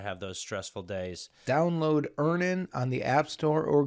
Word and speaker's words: Earnin: Download Earnin on the App Store or Google Play, spelled like earning. Earn, I-N-G, money, but without the G.